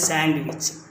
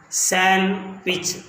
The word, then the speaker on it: sandwich: it remains silence but most of us we pronounce as sandwich it's the wrong pronunciation but in original as to pronounce as san which they remain silent here thus most of us